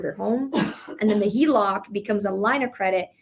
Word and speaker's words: HELOC: You can also do the, what is it, HEVOC? Is that how you say it? HELOC.